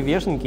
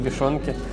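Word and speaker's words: вёшенки: Да, оказывается, вешенки, правильно говорить, они вешенки, не вешенки.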